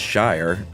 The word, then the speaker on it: shire: When standing alone, it's pronounced shire like wire, but when used as a suffix, it's uh it rhymes with beer.